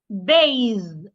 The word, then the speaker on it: bathe: Ba for the voiced th my tongue must be outside also and then I make vibration z bathe bathe ba bathe let's